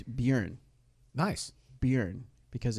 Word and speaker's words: Bjorn: Bjorn.